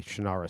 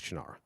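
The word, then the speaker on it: Shannara: bestelling author of the shanara series he pronounced it different he's wrong as chanara uh I go M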